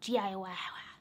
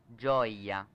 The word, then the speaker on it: Gioia: It's funny, Dan told me how I pronounce this and I've already forgotten. It's the light D Gioia? Gioia. Gioia.